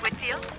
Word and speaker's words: Whitfield: next week and just wanted to get the pronunciation of her last name correct it's Whitfield Whitfield well that's what I thought and how